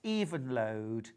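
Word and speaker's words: Evenlode: I think it's pronounced even load, as in deep and crisp and even load.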